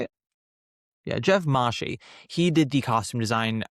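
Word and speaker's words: Mahshie: Yeah, Jeff Mashie.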